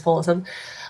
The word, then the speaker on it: Paulsen: So I'm Paulsen, which is spelled Paulsen. It's a very strange unusual spelling anyway. It's not a common spelling of Paulison, considering it's just said the way everyone says Paulison.